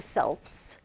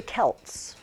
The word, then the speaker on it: Celts: When I was a little girl, and I'm not sure why this changed, they called them the Celts, but now they're the Celts. We're supposed to say the C with a hard C.